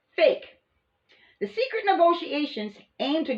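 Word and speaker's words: PHEIC: emergency of international concern p-h-e-i-c pronounced as fake the secret negotiations aim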